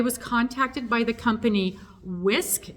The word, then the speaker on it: Wiskf: contacted by the company whisk it's w-i-s-k-f I'm assuming the f is silent because I can't figure out how to say it otherwise so I'm calling it whisk whisk yes whisk so